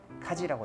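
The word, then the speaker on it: 家事: 가사 어떻게 읽죠? 카지라고 읽죠. 그죠?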